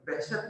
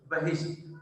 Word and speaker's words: بہشت: ہے یہ بہشت ہے، بعض بچے اس کو غلط پڑھتے ہیں، بہشت پڑھتے ہیں، یہ غلط تلفظ ہے، اس کا صحیح تلفظ بہشت، بہشت کہتے ہیں جنت کو،